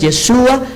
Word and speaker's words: Yeshua: El nombre de Jesús en el hebreo es Yeshua. Así lo pronunció Miriam, Joseph, Jacob.